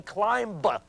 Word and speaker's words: climb: seven five three nine because you do not say climb just as you do not say bomb you do not pronounce the last B that's 93 that's all